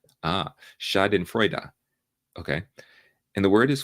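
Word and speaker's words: Schadenfreude: the word I don't know if you get Shaden fruit Shaden fruit Shaden fruit is a compound of the German word words shadin meaning harm in Freud meaning Joy it's pronounced shadin frea ah Shaden frea okay and the word is full of it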